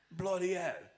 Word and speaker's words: Bowie: club and he goes bloody that's how you guys used to pronounce his name it was bowing in the old days he only changed it to Bowie later since we got so